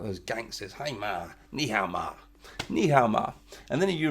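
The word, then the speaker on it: 你好: says meow when we say hello we say knee how Nihao need help when we say hello we say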